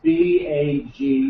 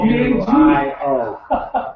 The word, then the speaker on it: Baguio: from the natives of the mountains here, and it's spelled BAQUIO. That's not right either. It's BAGUIO. Oh, BAGUIO.